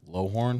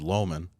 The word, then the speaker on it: Lowhorn: Well, last podcast I said Loman. Yeah, that was way off.